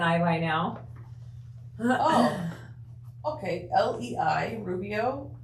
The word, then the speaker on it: Lei: Lei, Rubio. Name is pronounced lay, like lay down.